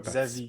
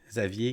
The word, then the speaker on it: Xavi: Il n'y a pas le R. Xavi. C'est comme Xa. Puis après ça, il y a Vi. OK, Xavier.